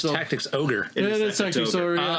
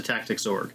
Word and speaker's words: Tactics Ogre: where I pre-ordered it I thought it was Tactics Ogre just always pronounced the tactics org gotcha um you're going to want to open